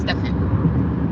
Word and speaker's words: Stefan: It's pronounced Stefan. So with an F.